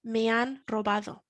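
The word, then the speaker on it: me han robado: time i've been robbed mian robado me an remembering again the silent h also as well if somebody were to approach you asking for help they might say me and robado okay so i'm going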